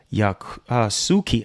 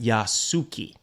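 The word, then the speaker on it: Yasuke: wait what character of yak suuki yasuki I know I was mispronouncing that yasuki um so the character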